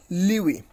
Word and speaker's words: lewe: So it is LEWE, Liwi. You can also pronounce, you can also know the pronunciations of this particular word, clicking on this, on this sound icon.